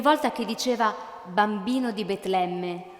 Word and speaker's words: Betlemme: bambino di Betlemme e quel nome Betlemme lo pronunciava riempiendosi la bocca di voce e ancor più tenero affetto producendo un suono come belato di pecora Betlemme il bambino di Betlemme